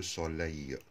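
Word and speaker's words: soleil: أي كلمة كمان آخرها أو إي إل والتلاتة على بعض يتنطقوا أي، زي كلمة لو سولي الشمس تبقى مذكر.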